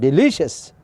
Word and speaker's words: delicious: Delicious is a correct pronunciation. Delicious. Second syllable it will be traced.